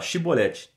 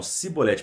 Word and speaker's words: chibolete: ele então se você não é efraimita fala chibolete né aí eles falavam sibolete porque eles na pronúncia deles eles não conseguiam é o sotaque